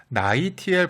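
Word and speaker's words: NaI(Tl): 그냥 책으로만 공부를 하면 소듐 아이오다인 검출기 이렇게 기억해도 되는데 이게 방송을 하려다 보니까 정확하게 발음 어떻게 해야 되는지 찾아보니까 나이티엘 검출기라고 발음을 하네요.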